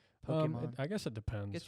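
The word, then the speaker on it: Pokémon: it Pokemon Pokemon yeah the E with that accent makes an a sound I think everyone Pokemon Pokemon I guess it depends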